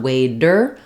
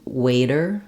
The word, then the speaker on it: waiter: a common word but those D's in the middle do the same thing where there're are light flapped sound it's not waiter or midle but waiter middle so that light touch up is the flap sound some languages use the